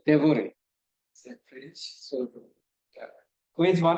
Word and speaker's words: Devoret: Devoret. Devoret.